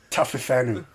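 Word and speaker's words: Taofifenua: how do you smell it mate t-a-o-f-i-f-e-n-u-a roman taffy fenu uh cyril cyril bail it's like braille but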